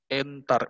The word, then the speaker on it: entar: ntar bukan E63 jadinya tembung entar beda bacanya ini bacanya enter nah tembung entar adalah